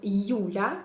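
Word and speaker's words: Юля: You se prononce comme deux sons. You, comme dans mon prénom, Yula, Yula. Dans mon prénom, c'est la lettre initiale. C'est pourquoi je prononce you comme you en disant mon prénom. Yula, Yula. Deux sons. Y et ou.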